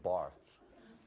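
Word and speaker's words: Barthes: not dude it's Mr Barth the S is silent you're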